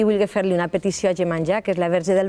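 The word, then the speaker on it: Iemanjá: I veniu en la deessa Gemanjá, m'han ensenyat a pronunciar-ho bé, perquè jo deia Gemanjá. No, és Gemanjá. Gemanjá.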